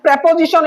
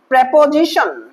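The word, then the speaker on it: preposition: আরেকটা এক্সাম্পল হলো অ্যাজ প্রেপোজিশন হিসেবে ব্যবহৃত হলো। প্রেপোজিশন, প্রিপোজিশন বলবো না, প্রেপোজিশন, এটা অ্যাপ্রোপ্রিয়েট উচ্চারণ।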